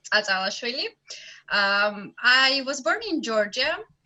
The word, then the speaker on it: Tsatsalashvili: My last name is very hard to pronounce even for Georgians, but it's Atalashvili.